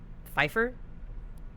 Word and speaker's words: Pfeiffer: Pfeiffer?